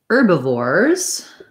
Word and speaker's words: herbivores: first syllable stress carnivores if i change to herbivores it sounds like um an er vowel and then a b instead of